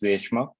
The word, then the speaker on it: Deshmukh: It's pronounced as Deshmukh, so you always get it right, don't worry. Yeah, why not I introduce myself? So my name is Deshmukh.